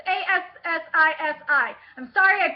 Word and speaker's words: Assisi: It's Assisi. I'm sorry I butchered the name.